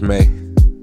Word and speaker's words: me: to the dark, the true me, pronounced May.